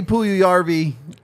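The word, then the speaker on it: Puljujärvi: great name strong name on this kid Jesse puyu yarby yesi pool party is it yesi okay well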